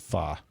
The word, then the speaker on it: pho: And that's pronounced pho. Pho, whatever. That's a Vietnamese thing.